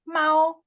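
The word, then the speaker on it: 猫: But it's pronounced Mao.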